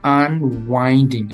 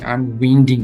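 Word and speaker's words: unwinding: 6, selecting, boiling, আনওয়াইন্ডিং, twisting, দেন উচ্চারণটা খেয়াল করেন, আনওয়াইন্ডিং, আনউইন্ডিং না, উইন্ডের অর্থ এক আর ওয়াইন্ডের অর্থ আরেক, দুইটা কিন্তু আলাদা আলাদা অর্থ।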